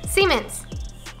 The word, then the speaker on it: Siemens: Siemens.